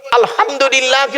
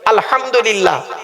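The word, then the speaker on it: الحمد لله: আলহামদুলিল্লাহি রাব্বিল আলামিন। আলহামদু। গলার ভেতর থেকে হেটা উচ্চারণ করবেন। আলহামদুলিল্লাহ।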